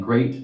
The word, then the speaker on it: great: Watch out for meat and great and threat. They rhyme with sweet and straight and debt.